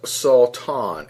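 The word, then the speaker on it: שטן: And it's believed to be pronounced as Satan, S-A-W-T-A-W-N.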